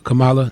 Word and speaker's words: Kamala: at least hopeful about what excites me is camilla harris uh kamala you know i might not pronounce the name all the way right all